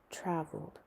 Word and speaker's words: traveled: They are pronounced with the d sound. Lived, traveled, called, loved.